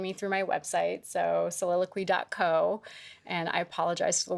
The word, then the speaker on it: Soliloquy: Everyone wants to spell it QY, and they don't know how to pronounce it. Yeah. Soliloquy. Yes.